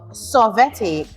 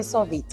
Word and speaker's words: Sorvete: She is the founder and owner of Sorvete, Artisan frozen desserts. Yes. Did I pronounce that properly? Perfect. Thank you, because Perfect. a lot of people say Sorvete and I don't know what that is.